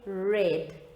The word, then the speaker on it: read: past tense of read and although they are spelled the same boys and girls you have you will say it differently so when we talk about the past tense of read we say red okay now let's see